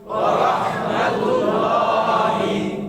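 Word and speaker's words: ورحمة الله: ওয়া রাহমাতুল্লাহ বলে থেমে গেলে সেখানে একটা হা আছে, খেয়াল করতে হবে। ওয়া রাহমাতুল্লাহ ওয়া রাহমাতুল্লাহ শেষে নিঃশ্বাসটা মুখ দিয়ে ছাড়বেন, তাইলে হার উচ্চারণ হয়ে যাবে।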